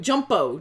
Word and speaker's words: Jumpo: No, it's not Jumbo Corlew. Jumpo. Yeah. J-U-M-P-O. It's Jumpo.